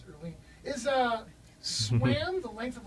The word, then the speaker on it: Erline: Erline. Erline. There's a little A in Erline. there? Erline. Mm-hmm. Okay. I almost got it. Earl with an ing on it.